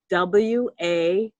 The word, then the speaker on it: Wallach: Dorit, WALLACH. So DORIT. Mm-hmm. And Dorit's last name is how do you pronounce it? Wallach.